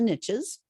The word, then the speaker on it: niche: heard them say the riches is in the niches even though it's pronounced Niche it sounds better but it flows